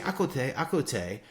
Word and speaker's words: à côté: She started saying, and Suzy thought she was saying the word for to listen, you know, écouter, but she's saying à côté, like à côté, mispronounced in English, côte, like à côté.